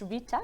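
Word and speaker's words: Ghita: I also have a bit of a weird name, G-H-I-T-A, that is pronounced Rita, that's me.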